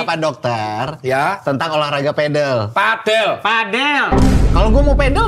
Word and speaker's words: padel: Padel bacanya bukan padel.